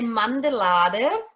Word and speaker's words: Mandelade: Well, we would say mandelade. Mandelada. Mandelade. Mandelada. Mandel is almond, and that's why mandala.